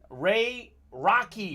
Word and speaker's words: Rocky: Ray Rocky, pronounced like Rocky the Great Boxer.